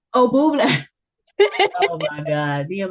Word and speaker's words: Bublé: It's Michael like, Bublé. oh, Bublé. Oh my God, me and my pronunciations.